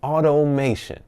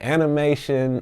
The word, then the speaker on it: automation: Automation, okay? I done heard people call it animation, anime, automobile nation.